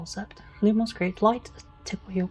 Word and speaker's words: Lumos: You know, I'm pretty sure it's pronounced Lumos, but especially considering how they're meant to care about the uh correct pronunciation of everything.